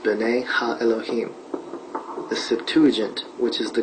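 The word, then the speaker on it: בני האלהים: The sons of God mentioned here in the Hebrew is pronounced ben ha Elohim.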